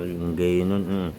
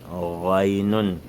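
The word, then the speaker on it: غين: Ray, on ne dit pas ngaynun, ray, raynun.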